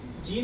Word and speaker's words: Jean: उसमें नीचे बेटा देखो जीन है ना, इसको ये जो वर्ड है फ्रेंच वर्ड है ये, तो इसको वहाँ पे जॉन पढ़ते हैं, ठीक है, उनका प्रोनाउंसिएशन के हिसाब से आप देखिए।